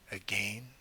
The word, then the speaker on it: again: unremembered lads did not again I have to pronounce it that way to get the rhyme that's how she would have said it a hundred years ago will turn to me